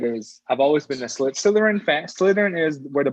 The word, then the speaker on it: Slytherin: Like slither. slither, Slytherin. slit. Slytherin.